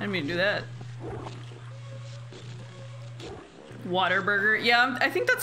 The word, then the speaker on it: Whataburger: Whataburger is the correct pronunciation.